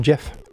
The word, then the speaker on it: Geoff: I think it's Why is pronounced Jeff.